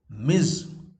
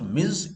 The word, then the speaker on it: Ms.: an adult man mr miz i also told you ms dot should be pronounced miss not to confuse it with miss ms dot pronounced miz is for addressing a woman it can be used